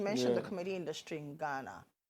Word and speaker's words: Ghana: But Ghana. yeah, that's exactly how you pronounce it.